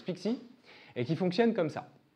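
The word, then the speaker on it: PKCE: Pixie pour les intimes ça se prononce Pixie et qui fonctionne comme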